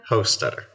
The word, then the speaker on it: Hostetter: I'm not very good with pronunciation. Hosteder. Is that right, Ken? Hosteder.